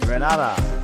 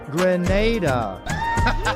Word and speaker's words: Grenada: So, today, like we German say, we are in Granada, but I heard in English it's called Grenada. Say it right. Grenada.